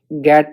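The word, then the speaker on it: Gantt: अब आगे बढ़ते हैं गैड प्रीमियम प्लान पे। तो गैड प्रीमियम प्लान को दिया है HL गैट ने। यहाँ पे ध्यान रखना एन साइलेंट है।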